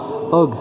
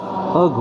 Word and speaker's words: Høgh: C'est Christian Hogg Andersen. D'accord? Alors, Christian, bah, ça s'écrit Christian, vous savez écrire Christian. Og, c'est H-O-G-H. Og, ouais, et puis il y a un trait au milieu du O.